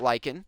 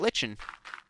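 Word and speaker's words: lichen: did some research and um actually learned about lyen and learned oh it's pronounced lyen not Lon but when I say lyan I think of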